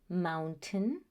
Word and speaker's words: mountain: In the longer words, you will notice that that ending is not the stressed syllable, and so the pronunciation changes. So instead, the pronunciation is mountain and certain.